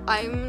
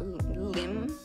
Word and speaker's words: Im: It's not Lim Young-Woong. It's Im, like the L is silent.